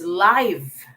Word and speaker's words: live: next one an adjective is it still pronounced as live okay having life or living or a life okay i don't think so it should be pronounced though let's see i i think i saw the answer already i think i saw one the person even uh here gerald rv do la cantor um the live here is live very good it's pronounced it's live okay live having life or